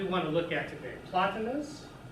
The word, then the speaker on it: Plotinus: Plotinus, the Greek is, there's the Greek, and it's pronounced Platonos, 205 CE to 270 CE, and Porphyry, okay?